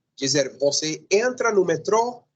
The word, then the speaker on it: metrô: Estudantes em português, metro não é metro, senão metrô. Está acentuada. Sim, tem circunflexo na O. Então, você deve utilizar, deve fazer o esforço, deve colocar o acento, deve fazer a força da pronúncia aí nessa última sílaba.